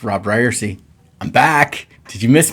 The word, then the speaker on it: Ryerse: Hey everybody, it's Robb Ryerse. I'm back. Did you miss me? This is the It's Pronounced Ryerse podcast, and took a little bit